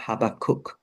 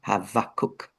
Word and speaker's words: Habakkuk: Uh the B is actually a V sound and that would be the same for Abraham.